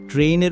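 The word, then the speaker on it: train: ট্রেইনের উচ্চারণ হবে ট্রেইন। আমরা যাকে ট্রেন বলি। ট্রেনে এই সাউন্ড পাওয়া যায় তাই এটি সঠিক। আর ট্রেনে এই সাউন্ড শোনা যায় না। তাই ট্রেন উচ্চারণটি একেবারে ভুল।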